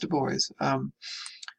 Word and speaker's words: Du Bois: Now, this is Du Bois, and again, it is pronounced Du Bois.